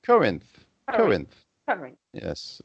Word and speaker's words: Corinth: pronounce this? Corinth. Corinth. Corinth. Corinth.